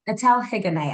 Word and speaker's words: Etelle Higonnet: It's a weird French name where, we drop the H at the beginning of words and we drop the T at the end of words.